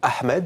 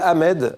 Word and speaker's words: Ahmed: comme vous écrivez dit Ahmed il prononce bien le h aspiré le professeur lui répond en France on ne prononce pas le H tu t'appelles Ahmed répète ton nom Ahmed